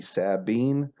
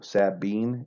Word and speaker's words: Sabine: always called it the sabine equal emphasis on both syllables so sabine it is often you'll